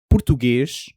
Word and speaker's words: português: So, português doesn't end in an s sound, not really. It trails off into something that would look, if you wrote it out phonetically, suspiciously like Portuguese people are constantly shushing each other.